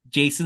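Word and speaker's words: Jacen: of these comments towards the young actor playing Jason syndulla he's great he's a great little kid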